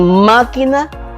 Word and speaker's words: máquina: En máquina la sílaba más fuerte que suena, o sea, la sílaba tónica es más.